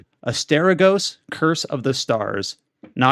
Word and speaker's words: Asterigos: No, you are pronouncing it correctly. When you read the word with an American English like mindset, you might think like Asterigos or something.